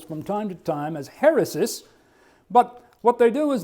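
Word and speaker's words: αἵρεσις: the Greek term, and that little curved line right there is an H sound.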